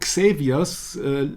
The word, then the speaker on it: Xavier's: can you imagine that it's xaviors sounds phonetically identical to savior right that's right today